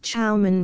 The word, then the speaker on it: Shaman: there lived a powerful Shaman pronounced chaan by the Indians this being the local